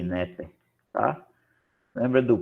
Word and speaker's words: Neper: A pronúncia é essa aqui, Neper, tá?